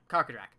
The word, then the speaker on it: Karkadrak: Actually, I'm not even sure how to pronounce that creature's name. Karkadrak. Okay, yeah, Karkadrak.